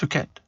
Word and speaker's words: Phuket: Is it Phuket? It's pronounced Phuket.